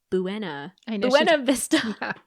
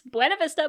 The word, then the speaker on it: Buena Vista: She's already established like they're sightseeing seeing around beautiful and Danielle pronounces it wrong. She goes Buena Buena Vista. Yeah, it's Buenav Vista, but whatever.